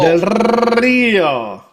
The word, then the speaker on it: del Rio: Alberto del Rio del Rio roll your Rs.